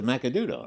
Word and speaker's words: Macanudo: figure out how to say it it's a Macanudo right yeah Maud yeah heard of them before